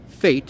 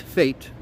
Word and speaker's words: F8: I believe it's pronounced Fate. Fate.